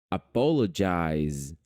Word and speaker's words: apologize: não foi tá bom esse Z vai ficar com som de z Apologize Apologize não é Apologize